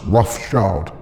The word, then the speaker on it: Rothschild: Yeah, their name originates from Red Shield, Rothschild, but it's still pronounced Rothschild.